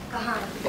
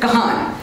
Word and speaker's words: Kahaan: Your name is pronounced as Kahaan or Kahaan? Kahaan. Kahaan.